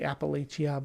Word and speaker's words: Appalachia: Um I know some people don't like the way I say Appalachia, but uh that's how I learned how to say it in Missouri.